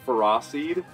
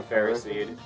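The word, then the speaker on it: Ferroseed: people pronounce that like feros like ferocity like kind of along that line but yeah I've always just thought it was Ferro seed it is definitely fer seed cuz it's iron and grass oh I love cherub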